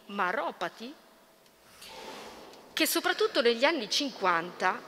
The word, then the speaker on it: Maropati: po' difficile e pronunciarlo so che cade l'accento sulla o quindi maropati che soprattutto Negli anni